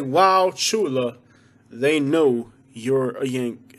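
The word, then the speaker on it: Wauchula: here with this one the u is silent it's washulah so you say wow shula they know you're a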